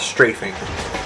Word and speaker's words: strafing: This is what's called strafing, and it actually works a lot better because... Is it chafing? No, I did not say chafing. It rhymes with chafing, but no, I don't know. It's a strafing.